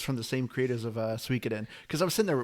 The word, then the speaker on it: Suikoden: Okay, Suikoden. From what I heard is the correct way to pronounce that game, but yeah.